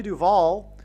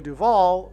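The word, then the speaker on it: Duvall: And so, uh, Shelley Duval, uh, uh, her name rhymes with Hall.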